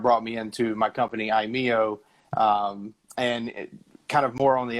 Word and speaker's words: iMEO: So what was the inspiration for iMEO?